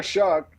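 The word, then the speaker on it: Shough: Tyler Shuck. If you don't know how to pronounce his name, just think the F-word and then add sh in front.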